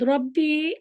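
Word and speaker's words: رَبِّي: আনতে হবে উস্তাদ, রব্বি আল্লাহ, রব্বি এই যে বীর পরে তো ইয়া না আসছে, এই যে তাসদিদ আছে তো, মদের হরফের পরে তাসদিদ বা যোজন থাকলে এটা মিলে পড়তে হয়।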